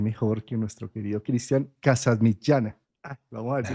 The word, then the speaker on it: Casamitjana: para esto quién mejor que nuestro querido Cristian casas michana Ah vamos a ver si lo produce así se se pronuncia tu apellido o no fantástico aprobado bueno